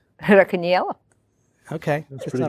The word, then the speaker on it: Racaniello: Racaniello.